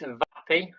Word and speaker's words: Vapi: Um so it's Vappy spelled like this vapi.